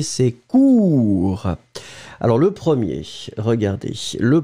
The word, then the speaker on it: court: Hein, le B, c'est court. Alors, le premier, regardez. Le premier, toujours la même chose. U, hein, très étroit. Cure. Et le deuxième, beaucoup plus rond. Court. Premier, cure. Deuxième cours.